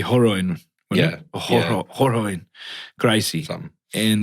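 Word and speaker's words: Rorion: UFC was founded by businessman Art Davey and Brazilian martial artist how do you say that? Roroin? Oh, it'd be Horoin.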